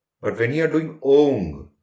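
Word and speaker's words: ॐ: Though we say Om, but when we pronounce it in Sanskrit, it is not Om. It is Ong, O-N-G, G, G, Ong.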